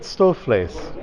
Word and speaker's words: stoofvlees: I'm sure I pronounced it incorrectly, but is it stoofvlees? That's right. Okay, good. I got it right, so that's excellent.